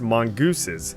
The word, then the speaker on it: mongooses: The plural of mongoose is actually pronounced mongooses because the vehicle is named after the mammal and not the bird.